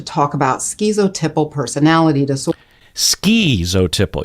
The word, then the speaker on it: schizotypal: about schizotypal personality disorder ski zotiple you hear that ski in there there's so many different ways and if the psychologists and the people with doctorates on YouTube pronounced it one way then I would say well let's go with that but it's all over the board but for me I don't like to leave out the T for some reason like